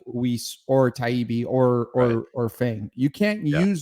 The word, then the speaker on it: Taibbi: Did you just call Matt Taibbi Talib? Oh, is it Taibbi? Yes, Taibbi.